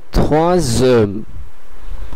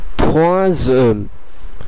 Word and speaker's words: troisième: Silent হয়ে যাওয়ার কারণে এসটার উচ্চারণ এস আর থাকবে না, বরং এটির উচ্চারণ জেড এর মতন হয়ে যাবে। এই কারণে এটির পুরো উচ্চারণটি হবে troisième, troisième, troisième।